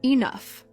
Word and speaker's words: enough: For example, the word enough is spelled with a gush, but those letters are silent. It's pronounced enough.